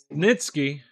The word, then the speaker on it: Snitsky: actually I wanted to see um snit how pronounce his name Snitsky yeah okay he wants Snitsky all right fair